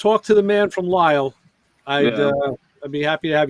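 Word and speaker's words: Lisle: Is that how you pronounce it? I thought it was like Lissy or something. I never really. I know. Everybody says that, but it's Lyle.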